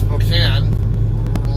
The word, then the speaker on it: Spokane: of it, and it was pronounced Spokane, rightly so with that spelling. And at some point in time, they added the E to the word, to the name, whatever, but they never changed the pronunciation.